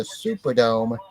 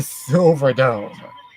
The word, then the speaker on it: Superdome: which in which uh Hulk Hogan was was famously mispronouncing the name of the venue they were in because they were in the Superdome not the silver Dome and they were and